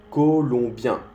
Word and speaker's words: colombien: El O-M en francés se pronuncia colombien, colombien. Con la nariz. O. Es como un O, cerrando un poco más la boca y abriendo el nariz.